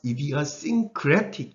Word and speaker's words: idiosyncratic: 강세는 TIC 이런 것들은 바로 앞에 떨어지는 경향이 많아요. idiosyncratic 이렇게 소리가 날 가능성이 굉장히 높습니다.